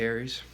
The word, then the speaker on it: Ares: So let me talk to Aries, and that's spelled without an I, A-R-E-S, the Greek god of war.